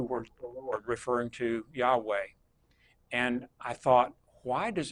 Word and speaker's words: Yahweh: We pronounce it Yahweh, Yahweh, Yahweh.